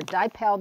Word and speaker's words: DiPel: pronounced let me know it's either dipple or dipel dust and this is typically